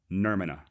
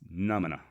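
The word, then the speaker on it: Nʉmʉnʉʉ: In that same episode, I horribly butchered the traditional name of the Comanche. I kept referring to them as Nermina. And I believe, and I'm probably still getting it wrong, but I believe it's pronounced Numina.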